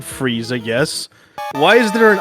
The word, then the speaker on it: Frieza: I as a kid I always thought his name was freezer so your it's pronounced I Am Frieza yes why is there